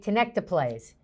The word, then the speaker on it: tenecteplase: I'm going to say tenecteplase. That is correct.